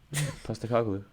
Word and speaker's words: Postecoglou: How do you pronounce his name again, Tommy? Postecoglou.